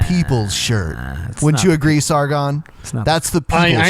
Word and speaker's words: Sargon: Sargon, Ben. It's a soft G. Thank you, Comrade The G Sargon. lost its hardness.